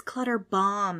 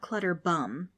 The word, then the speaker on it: Clutterbaum: "It's Clutterbaum," he tells people, "not Clutterbum."